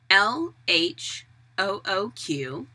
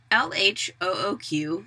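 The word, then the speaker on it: L.H.O.O.Q.: scholars have noted that in english LH o oq sounds like the word look perhaps commenting on the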